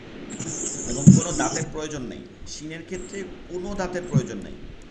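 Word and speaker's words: س: দুইটা হবে ঠিক আছে একটা সিন সিন একটা হচ্ছে শিন উচ্চারণটা একদম বিপরীত হবে শব্দ আসবে সি শব্দ আসবে যেমন কড়াইতে মাছ দিলে তেলের মধ্যে মাছ দিলে যেমন সিরসির করে একটা আওয়াজ চলে আসে ওইটা হবে সিন আর স করে যে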